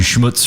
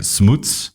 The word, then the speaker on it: Schmutz: because I called you Schmutz for years and then I heard you start saying smoots so which what is the correct way it is our family pronounces it Smooths Smooths and then I'm